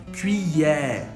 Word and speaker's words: cuillère: E depois tem o E aberto, E, cuillère, cuillère. E depois tem o famoso R francês que você faz com a garganta, R, R, cuillère, cuillère. E o último é mudo, então não se pronuncia, ok?